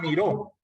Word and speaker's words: miró: Es muy diferente decir yo miro a miró.